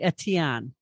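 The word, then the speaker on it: Etienne: so first of all if it's French it's probably aanen it's it's e t i e n NE e all right hold on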